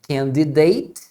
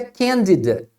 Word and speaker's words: candidate: é candidato essa palavra você vai ouvir a pronúncia candidate com ate e vai ouvir também a pronúncia candidate com at nesse caso As duas pronúncias são corretas e são usadas pra mesma palavra sem nenhuma diferença de significado tá você qu falar